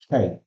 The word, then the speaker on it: chi: This should be pronounced as chi. That is CHI. Chi.